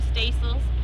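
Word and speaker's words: staysails: and aft or um we call them stacels because they hang from the stays okay could you spell that word stacil or what is it it's spelled just it's a s-t-a-y-s-a-i-l okay now does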